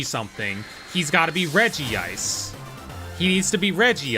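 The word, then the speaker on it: Regice: He's got to be Reggie Ice.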